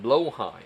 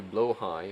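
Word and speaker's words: Blåhaj: I blue shark plush toy is generally pronounced blowhigh. Oh, although Swedish pronunciation is closer to blowh high or blowh.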